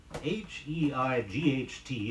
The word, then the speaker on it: height: Robin is usually called the harbinger of spring hei ght is pronounced only as height height note with the